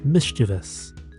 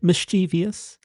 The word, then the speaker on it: mischievous: The first one is Haututū, which means mischievous. Not mischievous. There's no I after the letter V in that kupu. There is no such kupu as mischievous. On a similar note, there's actually no such kupu as pronunciation either. It's pronunciation. Kia tika mai e te whānau. Pronunciation and mischievous.